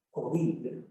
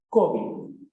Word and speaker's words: COVID: En principio, esta palabra presenta la sílaba fuerte al final, COVID, palabra aguda. Sin embargo, empieza ya a detectarse la grafía con tilde en la O, convirtiendo la palabra en llana, es decir, COVID, la tilde en la O.